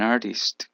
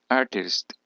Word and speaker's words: artist: musician número s an artist aquí la t se pronuncia como una r la RT cuando está seguida de una vocal tiende a pronunciarse como una r artist artist an artist a banker